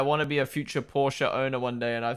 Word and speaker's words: Porsche: Pardon us trying to start pronouncing the E in Porsche. I know. I know. I I want to be a future Porsche owner one day, and